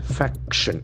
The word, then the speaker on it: faction: Faction. F-A-C-T-I-O-N. We have two syllables. Faction. The accent falls on the first faction.